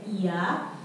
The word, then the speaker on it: Oia: Jadi tulisannya tuh OIA, tapi dibacanya Iya.